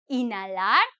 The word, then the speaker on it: inhalar: Cuando digo inhalar, I do not pronounce the H because I'm pronouncing it in Spanish, even though it's very close to English.